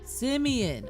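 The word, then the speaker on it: simian: Simeon.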